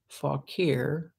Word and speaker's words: Fauquier: Francis Fauquier, I had a little trouble knowing how to pronounce that name.